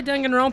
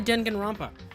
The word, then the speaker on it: Danganronpa: okay whatever let's play doing in Rome huh I said that name wrong but whatever let's play denigan romper that was much closer to the actual way to say that all right so we're